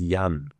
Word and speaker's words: Jan: That's in Germany pronounced as Yan.